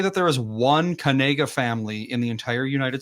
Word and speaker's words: Knigga: Apparently, he made a TikTok saying that it's pronounced Kanega. Yeah, it's Kanega.